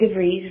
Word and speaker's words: DeVries: Hi, I'm DeVries, Rhymes with Cheese, here to talk about our friend Joe Jaffa.